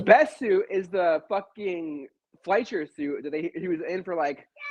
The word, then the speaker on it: Fleischer: I I said Fleischer, didn't I? Isn't it Fleischer? Is that? No, Oh, you yeah, said it right.